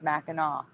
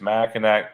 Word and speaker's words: Mackinac: So, anonymous woman here says it's Mackinac because it's French. People who don't know it always say it wrong.